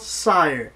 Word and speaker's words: SYRE: review first and foremost I've been saying the wrong pronunciation for the damn word and it's called sire okay so I'm freaking